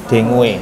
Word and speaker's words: dengue: disebabkan oleh virus denggi dengue tulisannya dengue bacanya dengi Nah itu virus ya